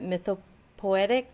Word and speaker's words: mythopoetic: I was going to ask you about that, about the symbolism and the allegory that you mentioned about how do you pronounce that? Mythopoetic symbols?